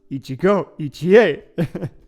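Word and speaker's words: 一期一会: It's pronounced Ichigo Ichie.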